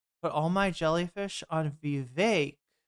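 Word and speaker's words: Vivek: Put all my jellyfish on Vake rhymes with cake.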